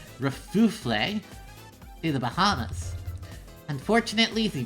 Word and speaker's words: Kerfuffle: That's pronounced Kerfuffle.